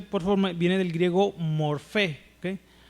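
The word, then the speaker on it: μορφή: En el griego, fíjense bien esta palabra, la lo que se traduce por forma viene del griego morfé, ¿okay? Morfé, así se pronuncia, ¿verdad?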